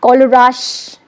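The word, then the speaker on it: Kohlrausch: आज मैंने इसकी प्रोनाउंसिएशन पता है, पढ़ाने से पहले मैंने इसकी प्रोनाउंसिएशन देखी। कोलराश, खलराश, KOHLRAUCSCH, कोलराश जो थे एक साइंटिस्ट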